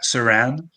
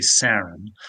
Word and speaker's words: Sarran: Yes, So yeah, I appreciate the way you pronounce my last name, because a lot of Americans say Saran, like Saran wrap, but it's actually Saran.